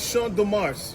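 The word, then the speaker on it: Champ de Mars: So this area is called Sha de Mars. Sha is spelled C H A M P S.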